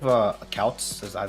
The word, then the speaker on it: Kautz: Were you afraid of Kautz? That's how we're pronouncing his name.